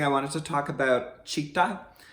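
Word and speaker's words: Citta: Before we started practicing, I wanted to talk about Chitta. It's spelled C-I-T-T-A.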